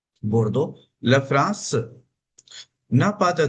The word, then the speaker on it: Bordeaux: इसका प्रोनाउंसिएशन है मार्शेई, बोर्डो।